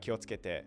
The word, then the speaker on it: Kyoto: me about kyoto and she realized pronouncing is really difficult it is yeah let's get there so you here we go key doesn't activate your voice box right it doesn't activate your throat so and then this